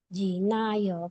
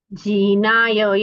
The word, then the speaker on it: जिनाय: चिदानन्दैकरूपाय जिनाय परमात्मने परमात्मप्रकाशाय नित्यं सिद्धात्मने नमः। जीनाय या जिनाय? जिनाय. जी ह्रस्व. जिनाय. जी ह्रस्व आणि ना दीर्घ. जिनाय.